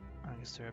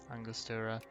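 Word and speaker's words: Angostura: I don't I'm not familiar with Angustera bitters. Where was that? Oh, in Venezuela. So, my instinct to pronounce that in a Spanish way is correct.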